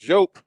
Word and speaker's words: Diop: told us some people could say Diop is pronounced joke I can't say Diop there's arms and the